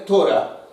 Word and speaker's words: Torá: Torá ou Torá, nós dizemos Torá, mas a pronúncia correta é Torá, né, porque você dá o O fechado lá, Torá.